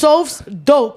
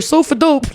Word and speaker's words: SofsDope: it's SofsDope. You heard? SofsDope. Yeah. SofsDope. You heard? Spelled with a Pacific. Because people always like so dope or sofa dope. Like, imagine how everybody calling me sofa dope.